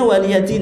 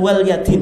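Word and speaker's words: وَلِيَ دِينِ: Itu bacanya waliyadin ya, bukan walyadin ya. Karena banyak orang baca apa? Walyadin itu.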